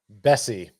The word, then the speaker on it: Bessie: Is it S or Bess? Bessie, kind of like Jesse, like Jesse's girl.